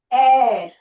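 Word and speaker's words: heir: Air. Air. Air means um the person who will take over like you know. So here h is silent air orange etc.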